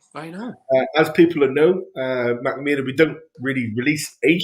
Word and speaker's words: Mackmyra: There you go, Mackmyra.